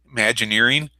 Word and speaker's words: Imagineering: do you say that how do you say imagine nearing Imagineering Disney Disney com it says right across there